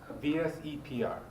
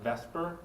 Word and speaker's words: VSEPR: A lot of people call it VESPR because it's very hard to pronounce that. Okay? So people just kind of reverse the E and the S and call it VESPR. Okay? The more correct way is called VSEPR therapy.